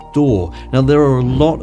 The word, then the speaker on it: DAW: a digital audio workstation often abbreviated to daw and pronounced door now there are a